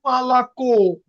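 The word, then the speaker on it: молоко: তো দেখেন মালাকো, লাস্টে কে ওর উপরে স্ট্রেস পড়ছে, কে আর ও।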